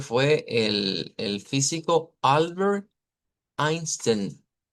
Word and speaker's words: Einstein: todos conocemos que fue el el físico Albert Einstein. Y note que se escribe con e i su apellido, pero se pronuncia con i.